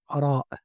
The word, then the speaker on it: ر: We have Ra, Ra, and you pronounce it like you do a soft vibration with your tongue on the upper of your mouth.